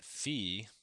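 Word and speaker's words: phi: nth power all right that's how you say it fee all right to the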